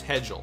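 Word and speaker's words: Hejl: pronounce that last name h e j l all right for what i see here it's hedgel so we have craig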